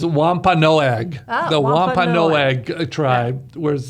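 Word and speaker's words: Wampanoag: I was hoping she knew how to pronounce it so I didn't have to. But it's Wampa Noag.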